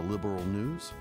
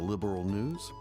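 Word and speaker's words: Liberl: Yeah, they they pronounce it like liberal instead of just liberal, you know, without the a between the R and the L.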